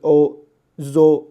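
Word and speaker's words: ζωή: 命啊，生命看这是 zo，那这因为是两个元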